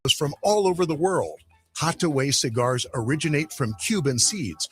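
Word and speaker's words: Hatuey: enjoy a fine cigar called Hataway Cigars. It's that little red place right there at 16th and V Streets. It's spelled H A T U E Y.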